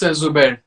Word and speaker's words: Zubair: Now, I want to make sure, is it pronounced Zubar or Zubair? It's Zubair.